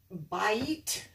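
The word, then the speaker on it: בית: a house or in and by eat that's how you pronounce that to buy meat bite is house in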